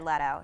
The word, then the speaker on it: Leto: five words or less it's jared leto not leto because in the video he pronounced it lito and it pissed me